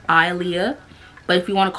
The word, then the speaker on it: Aaliyah: H like the singer but it's but it's pronounced Alia but if you want to call me